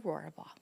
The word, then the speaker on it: Rohrabaugh: Wilson and our special guest today is Christa roora ball hello Christa you even said it right like